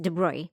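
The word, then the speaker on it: de Broglie: also known as the de broglia hypothesis it's French so it's pronounced de Bry the de Bry hypothesis introduced the concept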